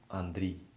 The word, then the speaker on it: Andriy: Well, it's pronounced actually Andriy. Andriy. Yeah. But, you know, here it's easier to say Andrew or Andy or Andre.